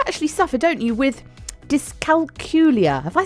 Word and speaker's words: dyscalculia: first point actually is dyscalculia we're pronounced to rhyme with julia ah okay and um